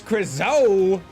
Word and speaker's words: Crizo: Here's Crizo, rhymes with Lizzo, bringing out that juice.